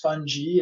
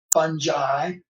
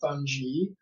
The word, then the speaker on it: fungi: as we talk about microorganisms fungi and others funghi is the better pronunciation today all right when I grew up in science four years ago we called fungi fungi so I will say that more often than